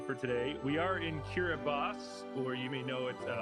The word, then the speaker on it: Kiribati: We are in Kiribati, or you may know it as Kiribati, although that's not the correct pronunciation. That's just how it's spelled.